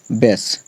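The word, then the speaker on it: base: बी ए एस ई यहां पर ए है उसके बाद एक कंसोनेंट है एक कंसोनेंट को छोड़कर ई आया है एक कंसोनेंट को छोड़कर ई आया है इसका मतलब इसको हम क्या पढ़ेंगे बेस वैसे हीय ए है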